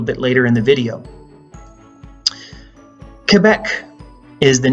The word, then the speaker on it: Quebec: in the province of Quebec yes it's Quebec not Quebec as many Americans say as I said for